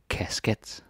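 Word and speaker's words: kasket: Casket. Casket. A cap. Right? On your head. Casket. Yeah, I know it might be funny, like, oh, it's a casket? No, it's casket. That's how you say it.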